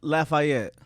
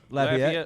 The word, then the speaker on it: Lafayette: Lafayette. Lafayette. Lafayette. You put the fay in it. Well, yeah, it's the French. That's from the the way French. it That's should the be proper pronounced, spelling. right? Lafayette But I is had